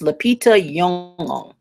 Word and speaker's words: Lupita Nyong'o: It's Leita Yong. Okay. So, leita. So, instead of le is leita. Okay.